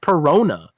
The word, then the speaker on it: Perona: In a moment when Zoro said, "If we would have lost with without like intervention here," which is against Perona. Peronas, whose name rhymes with Nona, um tried to use